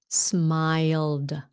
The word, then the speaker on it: smiled: becomes smiled smiled smiled i think this is a hard word for vietnamese like the word mile smile while okay um like if you can say the word why saud w-h-y you can make the sound why no i get you wild w w-i-l-d you say wild okay smiled smiled like becomes